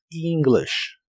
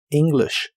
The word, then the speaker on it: English: La E de esta palabra se pronuncia como una I larga o doble y la I se pronuncia como una I corta. English, English.